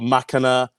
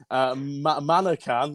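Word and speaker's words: Manaccan: We've got Makana. I've absolutely murdered the pronunciation there on that, lads. Manakan, there you go, for John Ryan, Frankie Dettori, 4-1.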